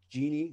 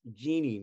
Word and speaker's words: Jeane: Pronounced Jeanne, not Jean, not Gina. It is Jeanne.